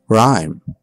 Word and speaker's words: rhyme: The H is silent. Choir, echo, ghost. Rhythm, rhyme.